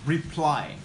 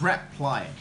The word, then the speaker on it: reply: bear in mind that we pronounce reply, not reply, okay?